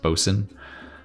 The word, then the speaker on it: boatswain: It looks like boatswain, but I think it's still pronounced bosun.